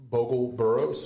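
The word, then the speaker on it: Bogel-Burroughs: How do you pronounce his last name? Bogle-Burroughs.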